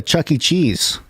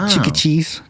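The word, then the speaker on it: Chuck E. Cheese: we we did uh chuck e cheese which is really cute she can't pronounce it she says cheeky cheese which is um you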